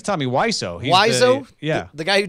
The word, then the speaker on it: Wiseau: Hey, man, Tommy Wiseau, is that how you pronounce it? I think it's Tommy Wiseau.